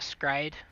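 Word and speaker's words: s-CRY-ed: that's what i actually should have done um skryo though is one of my all-time favorites that's an anime yep it's grayadol that's the pronunciation it's a scride so s dash c-r-i c-r-y dash e-d let's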